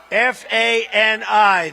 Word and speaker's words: Fani: F-A-N-I. That's pronounced Fanny, but you're not allowed to say it. It's Fani. Oh, boy, oh, boy.